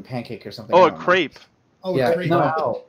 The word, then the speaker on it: crepe: A crip. It's like a fucking pancake or something. Oh, a crepe.